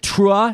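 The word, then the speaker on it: T'ruah: rabbi jill jacobs executive director of do you pronounce it true is that how you say it you got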